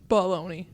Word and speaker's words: bologna: Bologna. It's baloney.